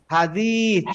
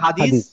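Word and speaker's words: حديد: আচ্ছা এটা হচ্ছে হাদিদ হাদিদ হাদিদ এই হাদিদ মানে কি আমরা যেটা বলি না হাদিস হাদিস না আসলে হাদিদ মনে রাখতে হবে এখন থেকে হাদিদ নট হাদিস হাদিদ হাদিদ আচ্ছা হাদিদ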